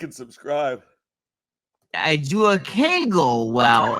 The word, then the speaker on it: kegel: A kegel. Yeah, rhymes with bagel.